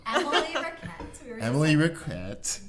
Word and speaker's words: Richett: Emily Richett. Yes. Not Richett or Ricketts.